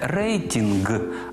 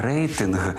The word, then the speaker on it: рейтинг: входить в дев'ятку приголосних тож Віталій Кличко мав сказати Не рейтінг а рейтинг бо звук т входить у нашу дев'ятку А яка ж друга